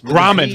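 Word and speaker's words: Grauman's: the Ron theater Chinese Raman theater is that is that is that what am I saying it right grammens ramens Raman Raman gram yes gram grammens with a G and um she's walking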